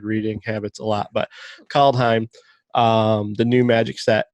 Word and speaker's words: Kaldheim: call it call behind i said it right caldheim i've been doing the same thing for the